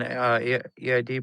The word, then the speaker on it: Eid: Always on EID prayer. Right? How do you pronounce that?